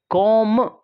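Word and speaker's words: comb: कॉम, इसमें B silent है।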